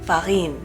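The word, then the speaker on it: farine: that means flour and in French it's Farin Farin Farin my hair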